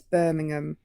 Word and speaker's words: Birmingham: I have something very important to say, and it's that you're all pronouncing it wrong. It's Birmingham.